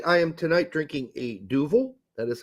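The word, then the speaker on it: Duvel: by the way I am tonight drinking a duil that is how it's pronounced in Belgium I was been corrected um many years ago and how did you say originally you were saying Duell duel yeah it's what it looks like to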